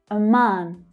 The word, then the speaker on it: Oman: Oman. Oman. The second syllable has the stronger stress, and it's the longer vowel sound. Ah, like in father.